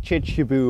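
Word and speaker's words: Kirkjubøur: is actually named though I think in Fairways it should be pronounced something like chichibu or something like that was actually a point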